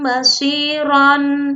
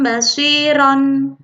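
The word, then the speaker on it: بصيرا: Bacanya bukan sami'an basiron, tetapi cara membacanya adalah sami'an basiro, 2 harokat. Ron di sini dibaca ro, 2 harokat. Sami'an basiro.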